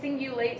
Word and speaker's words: cingulate: Okay, so I know I'm saying single, but cingulate starts with the letter C. Like the really old phone company Singular before it became AT&T. That's how it's spelled.